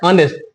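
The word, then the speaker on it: honest: है ऑनेस्ट क्या है ऑनेस्ट इसका उच्चारण यह भले ही स्टार्ट होता है किससे कंसोनेंट लेटर से लेकिन इसका जो उच्चारण है होता है वोल साउंड से इसलिए इसके पहले आर्टिकल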